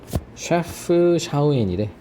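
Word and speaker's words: Chefchaouen: 나는 체프 예, 검색해 보니까 셰프 샤우엔이래. 이게 다 그냥 C옷으로 발음되네. 셰프 샤워앤.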